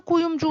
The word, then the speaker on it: Куюмджу: Что такое куюмджу? У нас есть фамилия Куюмжу, да, друзья? Куюмджу будет правильное произношение этой фамилии.